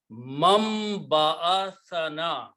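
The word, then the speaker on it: مَنْ بَعَثَنَا: hamari kambakti, man, again when ba is there and noon is there, noon is pronounced as a meme because of the ba. So it will become mam ba'athana, who has raised us,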